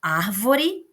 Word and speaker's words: árvore: Então, árvore, eu sei que a nossa sílaba tônica é ar.